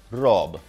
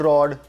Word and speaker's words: Rob: Okay, before I start anything, my name is Rob. Not Rod, not Rog, not Mad, Rob.